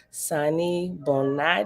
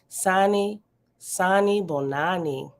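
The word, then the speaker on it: Sanibonani: Oh, I'm missing a whole N. Sani Bonani.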